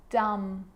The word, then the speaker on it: dumb: It's always silent when it follows the letter M. Climb, crumb, lamb, thumb, dumb, and plumber. So practice them with me. I'm not pronouncing the B, I'm just pronouncing the M consonant sound.